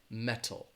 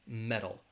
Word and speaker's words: metal: from the United States that flap T I'm going to pronounce it more like a D so it would sound